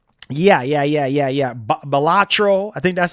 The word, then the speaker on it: Balatro: Balatro. I think that's how you say it. Balatro.